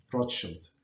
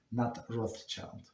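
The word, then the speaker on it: Rothschild: So that's uh that's how they pronounce rod shield and that's how they they pronounce in European not that in English but um roshield not roth child.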